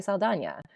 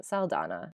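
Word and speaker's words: Saldaña: sleeper of like things that made a comeback in 2024 is the Enye in Zoe Saldana, which previously we were pronouncing Saldana.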